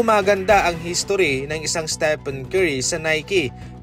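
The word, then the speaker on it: Stephen: Hindi po maganda ang history ng isang Stepen Curry sa Nike pagkatapos na ma-mispronounce ang kaniyang pangalan sa Stephone Curry at tinawag pa siyang set nito.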